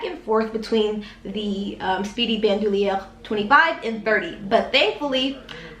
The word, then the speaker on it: Bandoulière: what kind of bag this is the Speedy Bandouliere. I'm fluent in French, so I do know that's how you pronounce it.